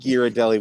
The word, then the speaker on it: Ghirardelli: like parentheses okay yeah i think girodelli would be the italian the pronunciation so a shame on